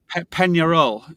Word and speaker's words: Peñarol: Peñarol, is that how you pronounce it? That's it.